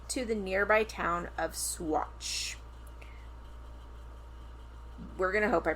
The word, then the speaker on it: Saguache: It's spelled Saguache. And so I wanted to pronounce it Saguache. But we looked up like a pronunciation and it's like Swaro. Swatch.